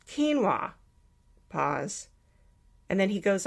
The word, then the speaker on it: quinoa: interesting ancient grain called quinoa pause and then he goes off script and says that's spelled k-e-e-n-w-a-h no I immediately run